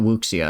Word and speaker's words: wuxia: It's not wuxia, it's like sha, because it's like the sound of like a whoosha. It's like the sound of a sword, right?